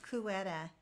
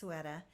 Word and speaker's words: Ceuta: She said Cueta. That's not pronounced correctly, it's pronounced Ceuta.